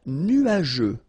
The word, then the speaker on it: nuageux: Un ciel nuageux. This can be quite tricky, but take the time to nu-a-je. Remember, final X here not pronounced.